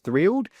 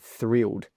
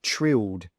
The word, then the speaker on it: thrilled: um if you were thrilled. Now, just be careful because there's a th at the start. So, make sure you pronounce that correctly instead of saying trilled.